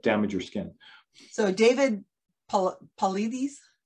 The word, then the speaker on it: Paulides: So David Paulides, how do you say his last name? I've actually never heard it pronounced.